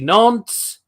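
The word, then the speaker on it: Nantes: united Michelin Monaco FC Nance that is how it's pronounce by the way psvi Northern when it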